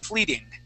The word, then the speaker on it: fleeting: Now this word here, because we have a T and then an ING, that T can be pronounced like a D sound. Fleeting.